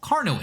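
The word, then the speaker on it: Carnot: covers what we call carno engines right so the t is silent in that pronunciation um but carno engines are essentially well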